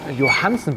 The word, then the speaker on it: Johansson: Wir haben ja bisher Lastenräder von Riso Müller und jetzt hat neu haben wir Johansen Bikes, so spricht man es aus, oder? Ja, Johansen. Johansen, ja. Skandinavisch so ein bisschen, ne?